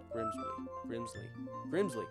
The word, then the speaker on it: Grimbsly: GRIMBSLY.